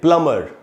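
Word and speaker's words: plumber: को बुला के लिया, उसमें बी साइलेंट होता है एक्चुअली। बहुत लोग इस बात को नहीं जानते, इसीलिए उसको वर्ड को बोलना चाहिए प्लम्बर, न कि प्लम्बर।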